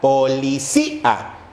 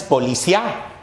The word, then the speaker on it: policía: y ahí sí hay si notamos que la i suena más policía no es policía es policía y si la boca